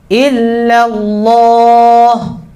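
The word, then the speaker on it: إلا الله: Ilahnya tipis, Allahnya tebal. Sama seperti sallallahu. Sallallahu, la-nya tipis, Allahnya tebal. Nah, sama ya. Jadi jangan ikut tebal ilahnya. Illallah.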